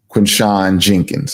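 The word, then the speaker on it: Quinshon Judkins: Quentin Jenkins, I think is how you pronounce the name. Running back, yeah. Quinshawn Jenkins, that's it.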